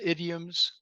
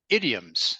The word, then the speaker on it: idioms: So, first one, idioms. It's pronounced idioms. Ok, idioms. Yep. Idioms. Idioms. Lembrando, né, o som do S com som de Z, ok?